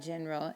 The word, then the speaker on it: general: general or generally in general in spanish it's in general remember that g when it's followed by an e makes the h sound in general now this one's tricky